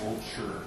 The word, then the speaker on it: Wolscher: My name is pronounced Wolscher, by the way, so just so everybody knows.